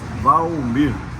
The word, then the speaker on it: Valmir: Mi nombre es Valmir en español, pero en portugués es Valmir.